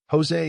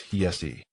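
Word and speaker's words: José: Jose is the Portuguese pronunciation while Jose in Spanish is pronounced as hese indicating the journalist's origins.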